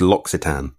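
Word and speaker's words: L'Occitane: So it's L’Occitan.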